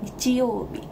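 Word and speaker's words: 日曜日: Tapi sebetulnya bukan kayak gitu, nichiyōbi. Jadi kayak nichiyōbi. Jadi kayak naik turun.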